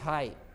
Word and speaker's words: high: में हो या GST हो तो GH को साइलेंट कर देना है, जैसे HIGH हाई, देखते हो ना, HIGH हाई, HIGHT हाइट, FIGHT फाइट, है ना, GH ई नहीं घ घट।